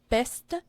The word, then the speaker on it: beste: Old French, more of a beste, and that last little e is real subtle. And then by the time you get to Middle English, it's more of a beste.